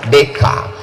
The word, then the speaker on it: Descartes: Cara membacanya Descartes.